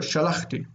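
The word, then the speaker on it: שָׁלַחְתִּי: Yeah, but the accent is here. Shalachti.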